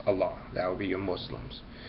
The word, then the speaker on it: Allah: one religion that feels the correct pronunciation of the name is Allah that would be your